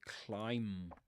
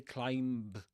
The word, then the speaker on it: climb: Yeah, you say climb. You don't say climbb. You don't pronounce the b at the end. Climb. There's a silent b at the end of climb.